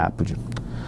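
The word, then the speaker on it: apud: tem acento porque latim não tem acento mas se pronuncia ápode Pereira víg 2012 ví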